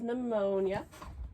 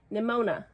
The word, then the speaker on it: Nimona: touched, which is a graphic novel, which is Pneumonia. I can never say it right. We've got to stop me. We truly just need me to read this so that I can never say the title again. Nimona.